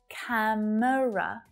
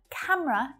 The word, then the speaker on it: camera: from childhood camera so this is another favorite word for native english speakers to shorten camera two syllables only many of my students will say camera camera but camera is definitely much more